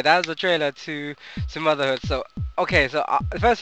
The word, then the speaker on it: Sumotherhood: Sumotherhood, that's how you say it.